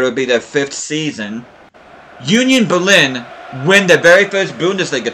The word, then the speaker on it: Union Berlin: Yeah, I know I've been saying Union Berlin, but it's actually supposed to be pronounced Union Berlin, if you're German.